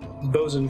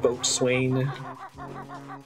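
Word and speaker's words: bosun: out loud yeah bozen comes up i think they just spell it b-o-s-u-n in uh in overden right instead of boat swain let me see if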